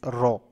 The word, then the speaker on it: rho: Okay, so this rho is actually a lower case Greek word that is pronounced as rho, rho, rho.